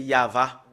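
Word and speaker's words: יהוה: on le prononce voilà le fait de le prononcer c'est yava nous allons le faire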